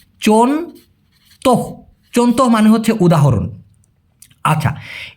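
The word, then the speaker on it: contoh: আচ্ছা উদাহরণের মালাই হচ্ছে চন্ত সি ও এন টি ও এইচ উচ্চারণটা হবে চন্ত চন্ত মানে হচ্ছে উদাহরণ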